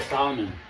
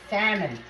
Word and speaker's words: salmon: Oh, when you make the salmon. Salmon, oh. Salmon, salmon. I keep on calling it salmon, but the L is silent.